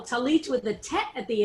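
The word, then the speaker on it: tallis: but if you've learned if you know that it's pronounced talus for a yiddish speaker or an american hebrew speaker and that's not influenced by israeli hebrew talis means there's no delegation that final tough and talit means there's no distinction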